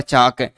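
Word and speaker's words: chalk: टाक, वाक और चाक, इसके अंतर्गत समानता प्रकट करता है कि तीनों के अंतर्गत अंत में ए, एल, के लिखा हुआ है और इनका उच्चारण करेंगे तो एल साइलेंट रहता है, एल का क्या हो जाता है, लोप हो जाता है।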